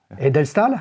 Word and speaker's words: Edelstahl: Edelstahl? Edelstahl? Ah ouais. Comme Nicolas de Staël, le peintre? Comme Nicolas. Alors, ça s'écrit pas de la même façon, mais c'est la bonne réponse.